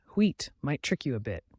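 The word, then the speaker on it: huit: Number 8, wheat, might trick you a bit. Pronounce it like wheat.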